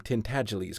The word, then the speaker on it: Tintagelise: to pronounce the name tintagelise correctly it rhymes with sneeze and the accent is on the second syllable and the g is soft as the office boys